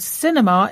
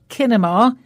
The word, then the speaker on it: cinema: she practiced performing and Cinema is an important word in the show today because we spell it with a letter C but we pronounce it with a s sound so we don't say kinema it's Cinema a lot